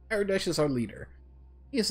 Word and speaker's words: Aradesh: Wow, I kept saying the name wrong. Aradesh is our leader.